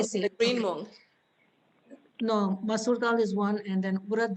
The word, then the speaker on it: masoor dal: Masoor dal. Okay, I'll spell it for you if you just give me 1 second.